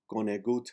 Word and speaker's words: conegut: The O is pronounced like a U, since the accent in the word is on the word gut, G-U-T.